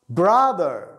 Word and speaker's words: brother: Brother. Brother. Brother. الأخت. Sister. Sister. Sister. كلمة brother وsister تلاحظوا الآر مخفف، يعني لا تقول brother sister، لا brother ذر ذر ذر ذر وليس در ذر. brother sister ter.